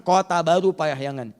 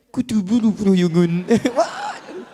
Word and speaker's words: Kota Baru Parahyangan: Ejaannya adalah Kota Baru Parahyangan. Jangan “Arabisasikan” menjadi “Kutu Buruun.”